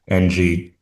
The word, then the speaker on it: Ng: I don't Okay. know if it's Nang, Okay. but she And said maybe because nobody could pronounce her name. I don't know, but she said NG, like the letter N and letter G.